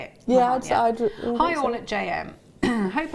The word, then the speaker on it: Mahon: Yeah, Mahon, Hi all at JM.